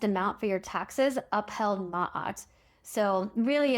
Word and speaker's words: maat: Last episode I pronounced it mat, but I think it's actually ma. That's what I heard in a YouTube video that I watched as part of this research. And again, that's spelled m a t.